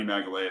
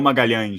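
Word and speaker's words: Magalhães: guys in Portuguese oh there's an extra syllable in there Gabriel magang for anyone doesn't know he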